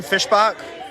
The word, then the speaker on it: Fishbach: Fishbach? Fishback. Yeah, Back. fishback. Back. It's Americanized to fishback.